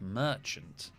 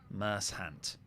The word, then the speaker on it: merchant: on it cool thanks they were pronouncing the word Merchant which is the name of the pub adjacent to our road as mercant I guess if you don't know the word Merchant you could pronounce him as mercant how is moss alive